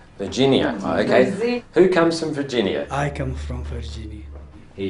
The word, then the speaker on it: Virginia: Look, the second syllable is the strong one. Which suburb is this? Virginia.